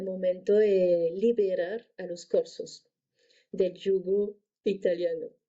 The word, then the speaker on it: Corse: antes hubiera nacido libre, corso libre. Entonces, interesante también esta perspectiva, porque ¿quién fue Napoleón? Fue el emperador de Francia, ¿no? ¿Cómo pronuncias Napoleón en francés? Napoleón. Napoleón. Bonaparte. Corse se dice cors.